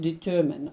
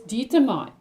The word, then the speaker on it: determine: an example of determine the word determine is pronounced determine i determine um what the problem is or and they will determine who stole the money but it is pronounced by many people as determined that's not the correct pronunciation of the word so if you mispronounce